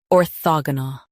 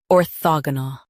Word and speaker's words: orthogonal: Orthogonal. Now, read the syllables of British pronunciation shown on the screen naturally. Or, thog, null. Orthogonal. Or, thog, null. Orthogonal. Stress the in US, thog in UK.